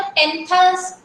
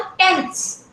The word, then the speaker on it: tenths: तो बेटा इसको हम ऐसे नहीं पढ़ते हैं, जैसे यहाँ TENTHS लिखा है तो टेंथस, हंड्रेडथस, थाउजेंडथस, इस तरह से नहीं पढ़ते हैं, राइट? तो कैसे पढ़ते हैं इसको हम? टेंस, बिल्कुल स्लोली, उसका वो जो है थोड़ा साइलेंट इसमें जाता है ना? और ऐसे भी बोलना है कि उसका डिफरेंस समझ में आए।